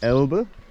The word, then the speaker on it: Elbe: Now we're just sort of walking along the bank of the Elbe. Yes. Yep, got the pronunciation right, it's good.